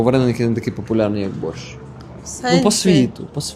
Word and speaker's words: борщ: Бачиш, тут прямо вимова українська. Борщ.